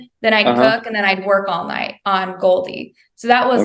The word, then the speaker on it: Goaldy: Okay, to Goldie. And what's behind that name? Yeah, so Goldie is spelled GOALDY, like goals.